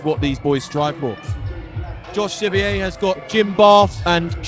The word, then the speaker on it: Josh Scivier: We've got Josh Scivier. I'm told is how to pronounce it properly. I've got it wrong for many years now, but it's Josh Scivier who's entering the ring right now.